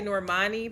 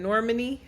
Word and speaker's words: Normani: I know I used to say Normani, but Normani. I think that's how you say her name.